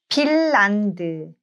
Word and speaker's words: 핀란드: So Bachim N meets R and both of them gets pronounced as L.